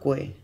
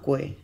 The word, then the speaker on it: koe: Tēnā koe, tēnā koe.